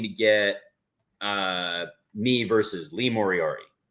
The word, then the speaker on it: Moriarty: Eventually, you're going to say his name right, and I'm excited about that. Moriarty. Lee Moriarty. Moriarty. Nope, you're adding extra letters. He's like the Sherlock Holmes villain, Moriarty.